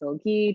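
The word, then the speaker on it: Silge: last name is pronounced silgy two syllables short i hard g uh so she can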